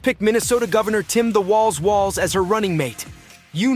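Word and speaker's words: Walz: From Minnesota, where nobody told us the guy pronounces his name Waltz, this is Ballot.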